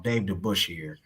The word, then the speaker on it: Dave DeBusschere: And then another person, Dave, apologize if I pronounced his name wrong. Dave DeBusschere, I think is how you pronounce it.